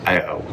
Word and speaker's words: Berrio: Berrio. Like Cheerio with a B?